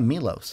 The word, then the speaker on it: Milos: Yeah, Milos.